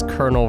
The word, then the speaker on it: colonel: Like, I pronounce kernel from a corn as colonel, and I pronounce colonel from the military as colonel as well. I pronounce it exactly the same.